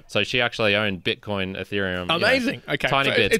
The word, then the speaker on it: Ethereum: uh now i think she actually pronounced it like uh at atrium or at ethereum and i was like oh you mean ethereum it's like yeah yeah